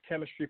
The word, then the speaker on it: K3MISTRY: And we are the official podcast of Chemistry Productions, that's spelled K3MISTRY, the media education company